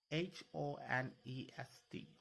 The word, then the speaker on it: honest: When we are pronouncing honest, H-O-N-E-S-T, honest, then we're using a vowel and because it pronounced O, vowel.